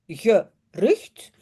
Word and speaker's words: gerucht: Et regardez bien, gerucht, deux syllabes, gerucht.